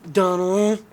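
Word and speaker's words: Domhnall: They were talking about Dom Hall Gleason. They Donald. Whatever. Fuck you. Say it properly. Donald.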